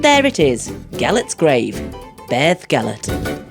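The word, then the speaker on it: Beddgelert: the dog and there it is G's grave Beth gallet it's a beautiful story and definitely worth checking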